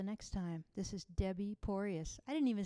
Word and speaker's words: Poryes: uh until the next time this is debbie porius i didn't even say who i was yeah my last name is spelled p as in piano which is a